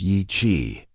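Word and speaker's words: Yi qi: Yi-Qi, pronounced Yi-Qi, meaning strange wing in Mandarin, wasn't just another feathered dinosaur from the Jurassic.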